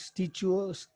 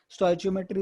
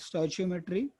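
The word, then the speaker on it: stoichiometry: कुछ लोग इसको अलग अलग बोलते हैं, कुछ स्टोइचियोमेट्री, कुछ स्टिचियो अलग ही बोलते हैं, पता नहीं वो दूसरे लोग क्या क्या बोलते हैं, बट स्टोइचियोमेट्री इज the correct pronunciation, you कैन use that, स्टोइचियोमेट्री।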